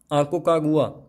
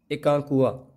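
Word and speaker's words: Aconcagua: सबसे ऊंचा पर्वत शिखर आकोकागुआ, एकांकुआ, ये 3 नाम हैं, अलग अलग प्रोनाउंसिएशन है।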